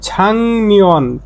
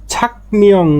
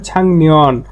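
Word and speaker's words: 작년: এই যে গিয়কের পরে নিয়ন আসলে এই গিয়কের উচ্চারণটা ইয়ং হয়ে যায়, ইয়ং ইয়ং উচ্চারণ হবে ছাংনিয়ন, ছাংনিয়ন, ছাকনিয়ং না হয়ে ছাংনিয়ন মানে গত বছর।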